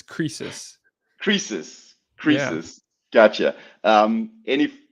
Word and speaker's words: Croesus: Yeah, I Okay, didn't know how to pronounce it when I picked that name, but yes, it's Croesus.